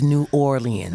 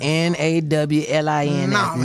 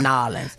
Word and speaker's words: New Orleans: They say it like it's two words, New Orleans. Right. It's New Orleans. It's one word, Nawlins. Nawlins.